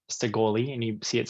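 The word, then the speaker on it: Shekoli: you hear me say sigoli and you see it spelled like s-h-e-q s-h-e-k-o-l-i the K being like a g like uh gun olympua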